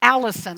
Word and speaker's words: allicin: So, garlic contains a constituent called allicin. I'll spell it A-L-L-I-C-I-N, allicin, which gives it its unique color.